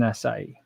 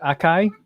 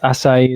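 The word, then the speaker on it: açaí: real good martha says for years i pronounced it akai berries until i heard it pronounced with a soft c yeah i could i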